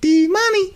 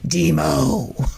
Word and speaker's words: D-Mo: It's not D-Money as you say it. It's Demo.